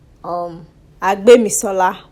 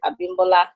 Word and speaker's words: Abimisola: They've called me Abimbola, Bimbo, Abimisola, Abisola.